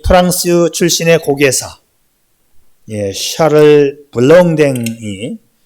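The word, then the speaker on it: Charles Blondin: 1859년에 이 프랑스 출신의 고개사 샤를 블롱댕, 제가 발음이 잘 안 돼가지고 미국식으로 이 발음을 하면 찰스 블론딘인데 제가 프랑스 말을 전혀 몰라요.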